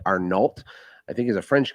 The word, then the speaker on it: Arnault: And I believe it's pronounced Arnault, but it's spelled like Arnault.